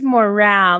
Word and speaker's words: morale: And I'm just going to say this is morale. This is one of those words that look the same but pronounced differently.